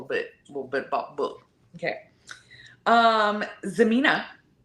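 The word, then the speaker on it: Xemina: Zemina, spelled with an X, because we love that.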